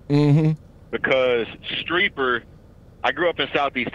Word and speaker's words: Streeper: It's pronounced Streeper. It ain't a big deal. Oh, Streeper.